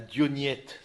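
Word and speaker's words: Diognète: Donc, la lettre à Dionyette, je vous invite à la lire, cette lettre-là. Dire comment est-ce que le chrétien se situe dans le monde? Dionyette, comme ça se prononce, avec un accent grave.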